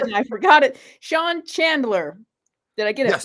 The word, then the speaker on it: Chandler: Sean, I just asked him his last name how to pronounce it and I forgot it. Sean Chandler.